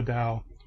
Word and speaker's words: Tao: of it t-a-o-i-s-n Taoism the t is pronounced like a d um so we have